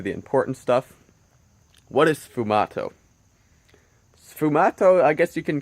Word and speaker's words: sfumato: I haven't really heard anyone talk about it in videos, but it's sfumato. You spell it like S-F-U-M-A-T-O, and I'm going to assume it's pronounced like that.